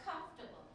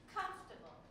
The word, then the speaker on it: comfortable: where the stress is now let's try that for comfortable comfortable comfortable how many syllables three comfortable where do I say comfortable or do I say comfortable or do I say comfortable comfortable comfortable so I would put a little dot on this so now you say